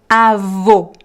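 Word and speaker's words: avô: practice your pronunciation so Avo Avo close sound Avo por por por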